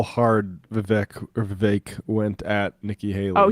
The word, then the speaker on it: Vivek: I mean, Vivek, rhymes with cake, brought a Sharpie and a notepad and then wrote Nikki equals corrupt.